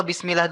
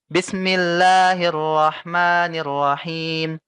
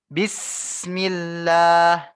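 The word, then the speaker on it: بسم الله: Di sin ya, kalian harus ditekan ya. Kalian harus melakukan penekanan di huruf sin sukun. Karena ini termasuk sifat dari sin ya. Bis kalian tekan. Ustadz, kalau aku bacanya gini boleh Ustadz? Bismillahirrahmanirrahim. Nggak boleh ya. Bismillah. Bismillah. Ada huruf E kecil tuh kamu kalau membaca seperti itu ya. Bismillah. Itu salah, kurang tepat ya.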